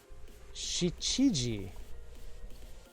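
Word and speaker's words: 七時: Is it pronounced Nana? No, it isn't. This one is pronounced Shichiji.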